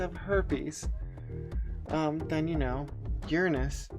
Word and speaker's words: Uranus: I've actually heard that it really is Uranus is the actual preferred pronunciation. Oh, well. Yeah, but Carl Sagan and Cosmos in the 70s was like, Uranus, to keep people from... laughing hysterically. Yeah, and making, you know, jokes like smashed Uranus.